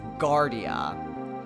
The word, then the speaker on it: Guardia: the country and that's Gardea kind of like Guardian but got the last letter so yeah that I